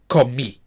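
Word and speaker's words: comí: So with the y ending, it is the letter i with an accent pronounced e. Okay. And again, we have the stress on the final syllable this time.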